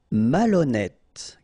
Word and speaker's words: malhonnête: Malhonnête. Okay, remember, H doesn't exist, so malhonnête. Don't insist on the final E. Malhonnête. And here you get E accent circonflexe, so you pronounce it like E.